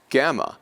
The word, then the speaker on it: gamma: Gamma will be pronounced as in G, like great, great.